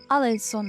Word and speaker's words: Alençon: Oh, Alençon is what you pronounce it.